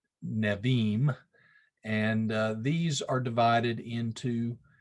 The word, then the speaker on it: Nevi'im: You'll notice that the B, or the bait in Hebrew, is pronounced as a V sound, not a B sound. So Nevi'im.